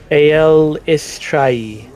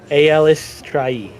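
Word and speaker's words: Eilistraee: had any symbols of Elistray? Just double check. Elistray? Is that what you said? Mm-hmm. Never heard of that one. Eliestre? Mhm. Eliestre? It says pronounce. Aelistrai. Aelistrai.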